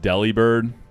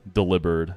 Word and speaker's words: Delibird: Hey man, it's pronounced Delibird. That's what we all once thought. We know the truth now. In the year 2026, we pronounce Pokémon names correctly. Hence delivery bird, Delibird, has nothing to do with a deli.